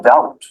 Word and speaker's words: doubt: D as in doubt.